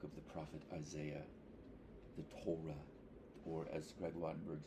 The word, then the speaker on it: Torah: the book of the prophet Isaiah the Torah or as Greg wattenberg says the Torah which is the correct pronunciation thank you and so you know here's